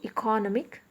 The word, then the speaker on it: economic: on the third syllable whereas when it comes to economic the stress is on the penultimate syllable that is the last syllable from the end no make because we